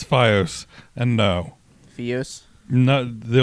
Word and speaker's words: FiOS: offer anything over by you say it like that again and I'm going to slap you fos it's FiOS and no FiOS no